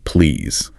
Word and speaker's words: please: Remember the pronunciation of please. Ah, yes, that little detail about the ending sound, making it a soft Z sound, not a sharp S.